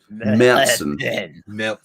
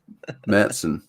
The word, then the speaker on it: Märzen: It's pronounced Märzen. Märzen.